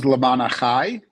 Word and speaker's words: Lema'an Achai: So pronounce the name of your social service charity again. Okay. The organization's name is Lema'an Achai, which is Hebrew for the sake of my brethren.